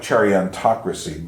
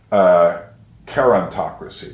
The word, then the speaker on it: gerontocracy: And he's talking about a thing called, it looks like chariontocracy, but it's really gerontocracy, because he's using a Greek word, and that's how that would have been pronounced.